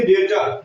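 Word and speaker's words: debtor: इसको जा माने संदेह होता है इसको पढ़ेंगे डेटर क्या हो जाएगा आपका डेटर डेटर माने देनदार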